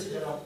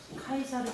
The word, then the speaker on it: 카이사르: 줄리어스 시저랑 예, 캐사르예요. 예. 그렇군요. 제가 그래서 캐사르가 발음이 크라시스인가? 카이사르, 캐서르, 시저 다.